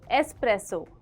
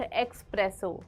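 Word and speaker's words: espresso: है I want an एस्प्रेसो short you mean एस्प्रेसो short यह तो बहुत ही ज्यादा कॉमन है एस्प्रेसो नॉट एक्सप्रेसो there is नो एक्स इट्स एन एस सो for example I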